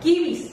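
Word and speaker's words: kibbeh: Kibi o kepe, como normalmente se conoce. ¿Qué? Kepe. ¿Cómo que kepe? No, que pues aquí, no, es que así se pronuncia en Líbano. Kepe.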